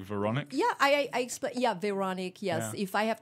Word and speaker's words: Véronique: Although with Véronique, it's hard because we don't have the R in English.